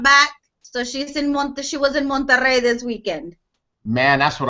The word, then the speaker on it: Monterrey: She didn't want me to not be able to come back, so she was in Monterrey this weekend. Man, that's what I'm talking about. How do you say it? Monterrey?